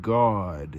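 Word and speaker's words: Gad: So she called his name God, spelled several different ways, pronounced exactly the same.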